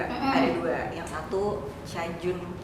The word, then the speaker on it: Cajun: Yang satu Cajun, bacanya gimana ya dek? Cajun, sama yang sweet sauce ya.